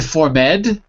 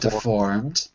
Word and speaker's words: deformed: that's it that's it so not to for med but deformed ok ok very good